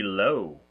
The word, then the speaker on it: Lo: We are doing the movie Low. That's right. It's L-O. That's how it's spelled. Like Lo and Behold.